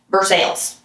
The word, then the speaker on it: Versailles: Versailles is the royal palace in France. In Illinois, it is pronounced with Midwestern distinctiveness, Versailles.